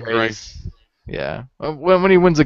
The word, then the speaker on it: Greiss: I think it's Greiss, like Rice-A-Roni. Greiss.